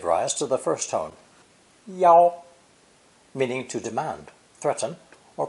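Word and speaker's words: 要: This character is pronounced fourth tone, yao, yao, or sometimes first tone, yao, yao, with a slight change in meaning.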